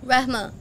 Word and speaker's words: Rehma: to search your name is you want to spell it rahma r e h m a give izzy you